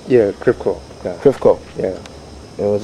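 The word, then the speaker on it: Crèvecœur: Was that part of, how do you pronounce that? Crevecoeur.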